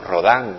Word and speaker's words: Rodin: Rodin o Rodin, como quieran pronunciarlo.